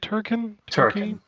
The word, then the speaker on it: Turrican: Turrican. Turrican is coming Yeah. back. And they 30th have- anniversary edition. Yeah, they have 2 collections that were put out physically. I was like, oh, a collection of Turrican.